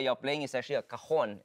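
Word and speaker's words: cajón: So this thing that you're playing is actually a cajon. It's pronounced as C-A-J-O-N with an invisible J.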